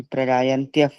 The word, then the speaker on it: प्रगायन्त्यः: ये जो पीडीएफ है इसमें य के बाद विसर्ग है तो उसको फ करना है, थर्ड वाले हाँ, शब्द में प्रगायन्त्यः करना है।